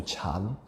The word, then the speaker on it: Chan: So when the sutras or the Buddhist teachings went over to the east, to China, somehow they transliterated the sound of the word dhyana into chan.